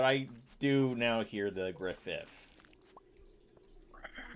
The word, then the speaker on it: Griffith: Uh, you've watched I mean Griffin, but that's kind of like a name wrong. But yeah, Griffith, you said I call him Griffin,